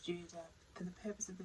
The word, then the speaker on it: Jude: So Jude is actually pronounced Judah.